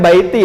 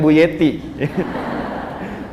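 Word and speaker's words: بيتي: Ya, bacanya baiti, ya, bukan buyeti.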